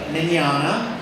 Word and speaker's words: Mignogna: this weird guy U my name is Vic minana it's pronounced man like Italiano minana pay no attention to how it's spelled it's uh it's very daunting when you look at it spell and it is not MC derpa derp so